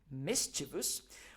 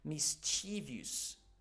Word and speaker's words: mischievous: if you are we if we are talking about UK English the proper pronunciation of the following word is is mischievous but if you want to adopt the American English pronunciation the pronunciation the pronunciation can also be mischievous mischievous it depends it depends on you proper RP British pronunciation